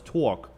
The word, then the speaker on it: Tawk: I want you to talk a little bit about it before we switch to RUSA. Yes, so it's called Talk Productions LLC. It's spelled TAWK.